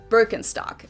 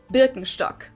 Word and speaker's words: Birkenstock: with their native accent, so English speakers usually say Birkenstock. In German we say Birkenstock.